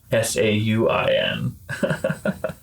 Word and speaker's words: Samhain: They spell it in a way that you would say it right when you read it. Sauin.